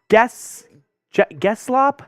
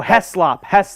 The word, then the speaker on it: Heslop: No, Heslop. It's Gavin Heslop. Okay, I had the G, but in the wrong spot.